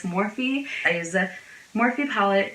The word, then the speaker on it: Morphe: I used to think they were pronounced Morphe, but it's Morphe.